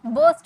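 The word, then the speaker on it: burst: फोड़ दो, बर्स्ट इट आउट। इसे आर साइलेंट होता है, बर्स्ट बोलते हैं, बर्स्ट नहीं बोलते हैं, बर्स्ट इट आउट।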